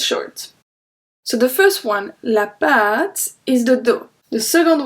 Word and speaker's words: pâte: So do you remember when we have an accent circumflex, we pronounce it longer. Next Wednesday, the vocabulary lesson will be about word with accent circumflex. So this one, la pâte, longer.